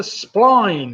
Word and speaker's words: spline: That's a spline, which of course rhymes with the number 9.